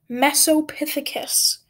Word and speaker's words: Mesopithecus: it's pronounced and i can say that it's pronounced mesopithecus um it means middle monkey or middle ape i should say little primate um the mesopithecus in the game is fearful of humans which